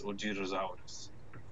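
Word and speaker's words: OZROSAURUS: Ozrasaurus. Is that how you say it? Ozrasaurus? I'm not actually sure. That's how I would say it in English, but it's in Japanese. It's Ojirosaurus.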